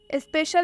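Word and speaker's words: special: स्पेशल, स्पेशल में सी के बाद आई आ रहा है और ये शब्दों के बीच में आ रहा है। स्पेशल के एकदम बीच में सी और आई आया है, तो इसलिए हम यहाँ सी का उच्चारण तलाबे श से करेंगे।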